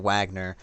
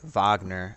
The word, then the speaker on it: Wagner: to pronounce this because i've been saying wagner are i think it's wagner um you know i was corrected in the comment section uh about that so